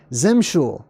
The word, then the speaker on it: Eximical: Oh, Eximical says, my name is pronounced Zimshul.